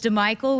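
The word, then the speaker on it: DiMichele: So him and Adam DeMichael, who it spelled like DeMichelle, but it's DeMichael, who's a quarterback at Temple when Coach Rule was there.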